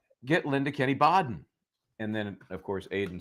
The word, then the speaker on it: Baden: And so somebody said, get Linda Kenney Baden. And then, of course, Aidan said, Linda Baden. Yeah, that's yeah. No one can pronounce my name right. I know. Anyway, it's Kennedy, it's Baden.